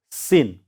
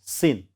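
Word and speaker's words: scene: See, sin. So here this sound is silent. Here only in. Sin.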